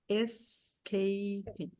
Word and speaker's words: escaping: São 3 sílabas. Escaping. Por causa daquele ele no começo.